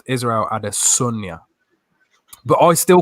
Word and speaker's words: Israel Adesanya: His name is not Israel Adesanya. That is not how you pronounce it. It's pronounced Israel Adesanya.